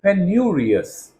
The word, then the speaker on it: penurious: Next, we have the literary sounding adjective penurious, pronounced penurius.